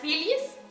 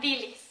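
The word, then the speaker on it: Wilis: se convierta en una Billies. Si bien esta palabra en alemán se escribe con W, pero se pronuncia como V.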